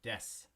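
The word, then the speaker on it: です: And when you see the su sound like you do here in des, it's going to sound like s. So des.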